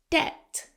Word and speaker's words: debt: He paid off his debt, silent B.